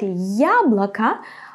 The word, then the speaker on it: яблоко: So, in the word яблоко, I pronounce it strong, я. To pronounce it like this, you have to say first the sound й, and then а, я, я. It's like the beginning of the English word yummy, ya.